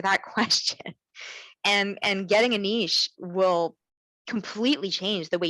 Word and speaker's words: niche: We call it niche in Canada.